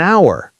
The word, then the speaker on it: hour: For example, we say an hour, not a hour, because the H is silent.